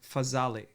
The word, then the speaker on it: Fazale: Fazale.